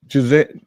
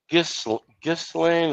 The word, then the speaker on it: Ghislaine: King, let's talk about 211 Republicans that voted to block Giselle Maxwell from being testified before Congress. It's pronounced Ghislaine or Ghislaine.